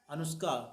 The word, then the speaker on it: अनुष्का: अनुष्का। किस क्लास में? कक्षा 2। अनुष्का की स्पेलिंग बताओ हमें। अनुष्का की अंग्रेजी ए हाँ?